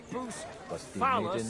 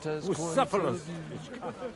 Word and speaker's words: Bucephalus: What kind of name is Bucephilus, anyway? It's pronounced Bucephalus.